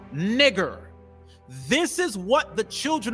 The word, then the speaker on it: Niger: So when you're reading in Acts, the 13th chapter and the first verse, it's not pronounced Niger, it's pronounced nigger.